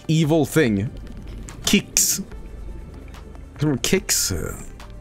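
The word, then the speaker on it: Qix: to say but I I'd love to do kicks you guys ever played kicks before is that game where you're like you're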